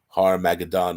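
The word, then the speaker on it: Har-Magedon: things with regards to Har Magadan as it's actually pronounced in in the Greek so it's it's uh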